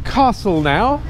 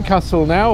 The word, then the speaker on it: Castelnau: we're on Castle now it's an interesting name Castle now or Castle now no one's really quite sure how to pronounce it well I know how to pronounce it because it comes from oxitan um oh and uh